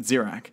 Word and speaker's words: Zirak: And then you have Axrax, Akrak, I'm trying to pronounce his name, Zirak, that's how you say it, Zirak.